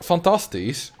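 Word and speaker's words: fantastisch: Like, fantasties means fantastic. Fantasties, like, at the end you have an SCH. But you don't pronounce the CH, it's just fantasties.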